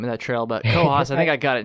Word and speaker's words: Cohos: Yeah, a lot of people get confused with that, because it looks like it's like whatever the northern county in New Hampshire is, I think it's spelled C-O-O-S.